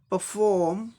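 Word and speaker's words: perform: तो British English में क्या हो जाएगा, परफॉर्म परफॉर्म परफॉर्म परफॉर्म, ऐसे हो जाएगा।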